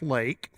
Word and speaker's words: Leake: name is actually Lake it's pronounced Lake it looks like leak so I a lot